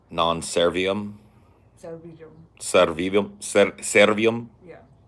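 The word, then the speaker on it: non serviam: Non-servium. Non-servium. Servium. Servium. Yeah. Non-servium. Like V's are kind of like W's and kind of like Servium.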